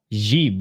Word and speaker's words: Grzyb: Is she pronounced Grzyb, I think? Grzyb, yep.